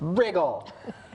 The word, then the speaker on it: Riggle: Wriggle, but Riggle.